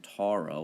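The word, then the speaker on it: Taurō: So it would say Europa est in Tauro with a long O.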